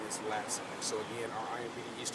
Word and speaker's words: Latson: you pronounce her first animal first name is j lee and her last name is lassen so again our imp east district officers are